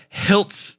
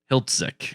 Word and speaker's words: Hiltzik: written and directed by Robert hilts Hiltzik Hiltzik is how that is pronounced okay so he has